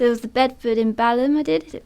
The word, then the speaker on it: Balham: So there was the Bedford in Balham I did. Is it Balham you pronounce it?